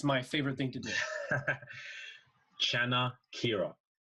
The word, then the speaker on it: Chanakira: Chanakira. Oh, just like it's spelled. Yeah, How convenient. very convenient. Chanakira.